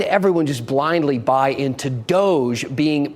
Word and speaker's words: Doge: official in an Italian city state it is pronounced Doge this is a real thing and here is